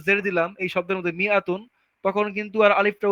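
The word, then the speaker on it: مائة: the Alif is not pronounce, আলিফটাকে উচ্চারণই করা হয় না, ইট ইজ প্রোনাউন্স মিআতুন,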